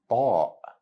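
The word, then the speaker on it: ط: It's a heavy or strong version of letter T in English. To say it correctly, your tongue should be all the way up to the roof of your mouth while saying ta.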